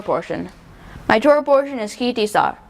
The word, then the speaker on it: Ki Tisa: My Torah portion is Ki Tisa, pronounced Ki Tisa or Ki Tisei.